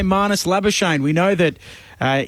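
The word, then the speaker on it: Labuschagne: we know that uh in his homeland in south africa the name is traditionally pronounced but he prefers it to be lava shane so um that is what we go with but if we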